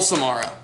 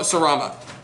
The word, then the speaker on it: Sarama: And then double Samara. So, Sarama. Sarama. I always mix those up.